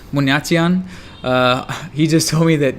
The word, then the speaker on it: Buniatyan: Buniatyan. Buniatyan.